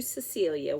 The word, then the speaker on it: Cecilia: It says it's to Cecilia, which rhymes with Amelia.